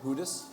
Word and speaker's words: Judas: that wasn't what yes how do you say it in Spanish Judas Judas MH but how is he say the same thing hudas uhhuh hudas hudas cool all right um